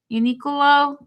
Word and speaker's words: UNIQLO: UNIQLO.